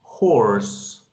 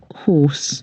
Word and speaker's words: horse: El británico la pronuncia de esta manera. Horse. Horse, horse. Mira que la R no está. ¿Sí ven? La R no está. En cambio en el americano, ahí está. La E, miren, ¿dónde está la E? Se supone que la E va después del sonido de la S. No está. Entonces el americano la pronuncia así. Horse.